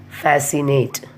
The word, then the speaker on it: fascinate: Next, fascinate. So the rule 1, C is not pronounced after the letter S and also in the combination of SC.